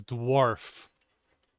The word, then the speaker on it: dwarf: Incorrect. The correct pronunciation is dwarf.